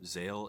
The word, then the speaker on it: Zexal: I don't know why there's a silent X in there, because the name is officially pronounced Yu-Gi-Oh! Zale in Japan.